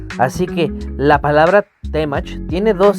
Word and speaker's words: Temach: Y otra cosa es la pronunciación correcta que es Temach, no temach. ¿Y a qué se debe esto? En español las palabras tienen tendencia a ser agudas.